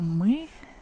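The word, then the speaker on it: мы: uh to show I it may confuse um beginners and they will try to pronounce like e or something else so me is we and let's look at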